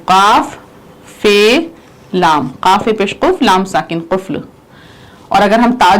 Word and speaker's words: قفل: اس کا تلفظ قفل. دیکھیے قاف فے اور لام، قفل یعنی تالا.